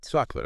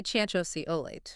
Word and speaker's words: chocolate: Really, especially in unstressed syllables. Okay. Like think about chocolate. Chocolate. Okay. Most people don't say choso olate.